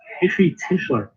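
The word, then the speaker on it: Heshy Tischler: I believe that's Hishy Tischler.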